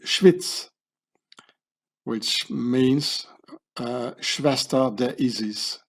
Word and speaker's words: Schwyz: In German you say Schweiz, but in Swiss German you say Schwyz, which means Schwester der Isis, Schwyz.